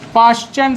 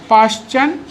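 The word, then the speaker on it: Paschen: तो ये वाली जो सीरीज़ मिलती है इसको अपन बोलते हैं पाश्चन सीरीज़। स्पेलिंग आप लोग देखते रहिएगा, ठीक है। इसको अपन क्या बोलते हैं, पाश्चन सीरीज़ बोलते हैं।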